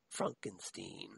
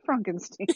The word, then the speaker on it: Frankenstein: excuse me young frankenstein maybe that should be pronounced young frankenstein but it isn't it's young frankenstein it's young frankenstein yes